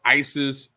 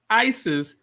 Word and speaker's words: Isis: Isis was not the way the Egyptians pronounced the name of this goddess. The pronunciation comes from Greek and Coptic languages that come into biblical world centuries after Hebrew. The Egyptian pronunciation of the name of this goddess was something like Waset or Osset.